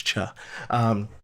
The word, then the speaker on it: Cha: I like to call him Choi, but I'm pretty sure it's Cha.